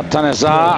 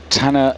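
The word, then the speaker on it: Taner: Frenchman tan now tanar a little strange the way we're pronouncing his name I can promise you uh we've known this man a long time and the Turkish commentators long ago corrected us it is Tanner zah the Olympic champion and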